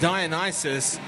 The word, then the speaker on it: Dionysus: Penelope Powerpuff again jamming for the Ultimates up against Dionysus.